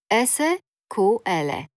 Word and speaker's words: SQL: długo po jednej Głosce w życiu codziennym mówię sequel wymawiam więc tak i tak już wiecie że może być i SQL i sequel obie te wersje będziecie